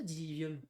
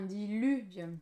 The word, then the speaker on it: Diluvium: Attends, ça s'écrit comme ça, Diluvium. Non, Diluvium.